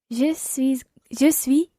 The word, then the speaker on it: je suis: Je suis comptable. Très bien. This time it's je suis. You don't pronounce the last S of je suis ingénieur, je suis étudiante. You would say here, je suis comptable.